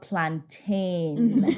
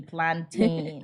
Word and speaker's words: plantain: Like I'm always arguing with a Jamaican, like, by the way, it's called plantain. Say it with me, plantain. How do they say it? Plantain. Like mountain.